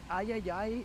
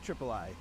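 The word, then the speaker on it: Triple-I: partnering with called the Ayayay Initiative. Yeah, I'm pretty sure it's pronounced Triple I. You know, like AAA, but with I for indie.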